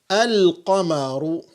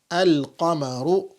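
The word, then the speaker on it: القمر: is that moon letters, when you provide alif and lam at the beginning, the lam is pronounced.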